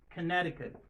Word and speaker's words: Connecticut: Colorado, Connecticut Connecticut ici la lettre C ne se prononce pas il mond qui connect c'est pas c'est Conneut de syllicut Delaware Delaware Florida Florida Georgia Georgia Hawaii Hawaiio.